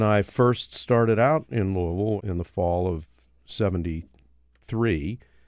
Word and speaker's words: Louisville: it is Louisville and the way you say it if you're from Louisville is to collapse it all into one melted syllable Louisville so Louisville and so